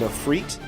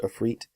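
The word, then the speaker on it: afrit: a mohawk called in a freit i think it's called a fruit it's spelled a-f-r-i-t i think it's i should say i think it's pronounced a freit um and it was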